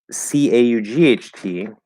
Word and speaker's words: caught: This is an example of a word that is pronounced with aw. So it's actually more up here. It's in the back, but it's not as far down. And the lips are going to kind of round a little bit.